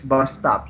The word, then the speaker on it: bus stop: uh, And then the next one is bus stop. So bus stop is a compound noun. The main stress is on the first word.